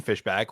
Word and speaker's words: Fishbach: Well, I'm on all social media platforms at Stephen Fishbach, which is spelled Stephen, and then fish like the animal, Bach like the composer.